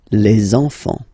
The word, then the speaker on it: enfants: Don't pronounce the T, you don't pronounce the S.